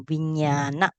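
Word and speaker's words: viññāṇa: So we must pronounce the word vinya. This one pronounce N and Y. So vinyana, consciousness.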